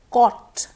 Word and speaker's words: caught: please properly scholarship scholarship caught caught now I'd like you to note this word the spelling is c au ght that's six letters but the pronunciation is just girl or two three sounds got wrong wrong and